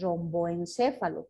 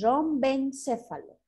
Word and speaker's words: rombencéfalo: Y la última, la más posterior, se llama rombencéfalo, así se escribe, rombencéfalo, no es romboencéfalo por si acaso, es rombencéfalo o cerebro posterior, ahí está, así.